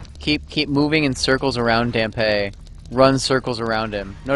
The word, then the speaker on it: Dampe: I say Dampe because I see it as sort of a reference to Dante.